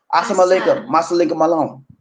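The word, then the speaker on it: As-salamu alaykum: you that's a arabic most of the muslims say assam alaikum that's what it's pronounced and then there's when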